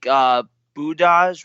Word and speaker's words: Budaj: they've had fill in at all, I think Budaj was one of them, if I'm pronouncing that correctly. Budaj, yeah.